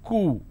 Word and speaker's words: coup: derivatives apartment disagreement dislodge c-o-u-p is cool it's not Coop or